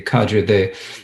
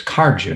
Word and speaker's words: Kagyu: Now, in the Drukpa tradition, when they talk about the Kagyu, they call it the Karju. They spell it differently. It's Karju, not Kagyu. But within the Kagyu, most